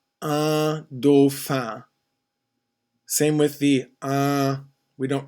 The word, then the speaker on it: dauphin: Dauphin. Again, we have the AU sound. Dauphin. We don't really pronounce the N when it follows an I because it's a nasalized sound. Un dauphin.